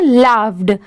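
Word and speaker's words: laughed: अब जैसे देखिए एल ए यू जी एच बहुत सारे जगह पर बस इतना लिखा होता है। तो इसे हम क्या प्रोनाउंस करेंगे? लाफ। ठीक है? इसे हम क्या पढ़ेंगे? लाफ। और लास्ट में इडी ऐड हो गया। इसीलिए इसे क्या प्रोनाउंस करेंगे? लाफ्ड। लास्ट में ड की साउंड जरूर आएगी।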